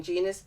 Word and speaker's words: Genus: And for the benefit, people might think genius is, oh, she's talking about her being a genius. That's not how it's spelled. So you better spell it out for them. So it's spelled very similar. You can call me Genus if you like, but it's spelled very similar. But it's like Genus, but without the I.